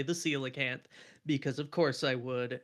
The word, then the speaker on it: Coelacanth: Coelacanth. coelacanth. Yeah. It You. doesn't look like how you would say it.